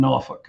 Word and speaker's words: Norfolk: I am third generation Norfolk, and I pronounce that correctly.